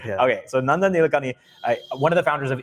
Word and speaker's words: Nilekani: This is from Nandan how do I say his name? Nandan Nilekani. Nilekani. Okay, I've been saying it correct. I've heard some people say Nilekani or something. The little changes, but yeah, I mean, more or less you're right.